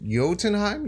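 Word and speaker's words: Jotunheim: YouTube comments gets you it's pronounced yo yotenheim yoden hi thank you I'm very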